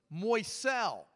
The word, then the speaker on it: Moiscell: Moiscell. How many of you can say, who can spell it? Very good. Now let's do it together. M-O-I-S-C-E-L-L.